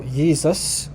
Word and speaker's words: Jesus: the the the the J is actually a y so yeus okay in German this